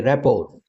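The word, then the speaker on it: rapport: यहां पर T silent है। इसको बोलेंगे रैपोर।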